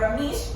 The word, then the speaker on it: Rameish: I pronounced properly, right? Rameish. Yeah. All right, very good.